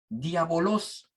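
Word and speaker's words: διάβολος: con esa pronunciación pero en griego se dice diábolos qué quiere decir simple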